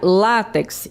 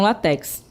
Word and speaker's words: látex: Temos a palavra láx em vez de látex, né? Então, observe aí que eu tenho o acento tônico é no lá e não no final. Então a gente pronuncia látex e não latex, certo?